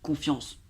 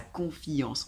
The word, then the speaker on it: confiance: le prononce comme ça, confiance, c'est 2 syllabes, confiance. Et là, vous entendez comment elle le dit? Sa confiance. Elle fait la diérèse, on appelle ça la diérèse. Sa confiance, en 3 syllabes.